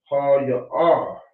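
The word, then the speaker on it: هي: Now, for she, it is ha-ya-ah. And that's why you have to be specific in how you pronounce it.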